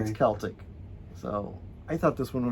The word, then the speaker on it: Celtic: that i i know i'm being yelled at celtic it's i know but it's pronounced with the it's a hard see oh yeah it's celtic so i thought this one was really cute